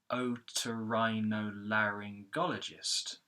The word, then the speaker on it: otorhinolaryngologist: So in this way, we've got the O, ri, la. Those 3 syllables are secondary stress syllables. So what you hear is Otorhinolaryngologist. Okay, so the first part is otorhinolaryng, and then you have gologist. So otorhinolaryngologist.